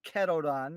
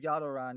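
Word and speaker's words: Yadoran: goes poke rhodum dex actually mispronounced yaran incorrectly called it ketodon instead of yadaran even though the closed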